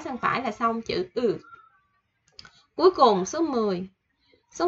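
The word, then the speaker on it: ㅡ: Ư của Việt Nam mình thôi, Ư. Ư thì mình chỉ vẽ một gạch ngang từ trái sang phải là xong chữ Ư.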